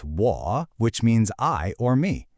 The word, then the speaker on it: 我: It's a third tone. Now technically, the third tone falls and then rises, but you'll almost never hear it pronounced that way in a full sentence. Usually you'll hear what's called a half-third tone, which is just a low, dipping sound that doesn't rise back up.